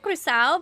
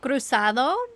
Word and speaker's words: cruzado: We pronounce it cruzado, but sometimes it's cruzado. Okay. Just depends.